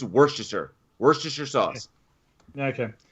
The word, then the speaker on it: Worcestershire: bad it's worse than your sauce what's this chester shire i've i've heard uh wha where chestershire i've heard that uh worcestershire sauce it's worcestershire worcestershire sauce okay it's [